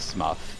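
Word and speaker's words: Smough: You know, because the proper pronunciation is Smuff.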